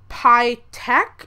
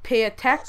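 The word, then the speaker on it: PYTAEK: I think it's the pych it's py T a e k so I think it's p or pay tech or I'm not sure but that's one gun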